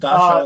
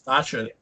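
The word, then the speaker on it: Dacha: Just Dasha and the is Dasha. Dasha, not Dasha. Dasha. Get my pronunciation right.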